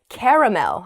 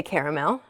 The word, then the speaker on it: caramel: making me doubt myself there's caramel and there's caramel they both refer to sugary sweet substance that's often a type of candy or often inside a type of candy it's really really delicious so you might say oh my favorite kind of candy is caramel or my favorite kind of candy is caramel just depends on where you're from apparently in the east the